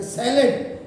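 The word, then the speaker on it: salad: हम बड़ी जल्दी रहते, किसी को बोलो कि सलाद कर, नहीं सलाद है सैलेड।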